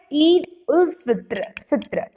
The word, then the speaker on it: Eid ul Fitr: So this how to pronounce is like Eid ul Fitr.